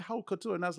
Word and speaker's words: haute couture: and I was like, "It's not haute. It's haute. It's HOUTE and OTOU haute. Haute couture. Yeah, haute couture. So pronunciation. That's something that I listen to people, and I'm like, it's boy, y'all can take some words up. It's haute couture.